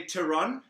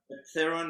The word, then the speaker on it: Theron: your last name it depends I say to run um Theron there's nothing wrong with it okay Terron and